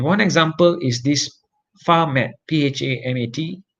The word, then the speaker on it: PHAMAT: And one example is this PHAMAT, P-H-A-M-A-T, or I pronounce it as PHAMAT, is actually the fusion of PHA and rhamnolipid together.